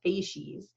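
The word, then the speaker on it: facies: of sedimentary fases so this word f s or sorry f a c i s is pronounced fases and fases are sets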